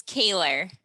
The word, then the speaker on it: Kahler: do you say your last name yes it's kayla all right so there it is uh